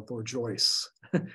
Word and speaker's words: bourgeois: Or Bourgeoisie, which was how they pronounced bourgeois, which was the size of the type.